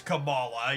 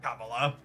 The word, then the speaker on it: Kamala: get that I think I believe it's Camala yeah not Cala cabala is the VP Kamala is how her character is canonically pronounced stuff hold on calm